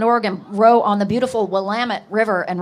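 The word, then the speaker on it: Willamette: Just want to say the one from Portland, Oregon row on the beautiful Wamut River. And remind us that Wamut rhymes with Damitut.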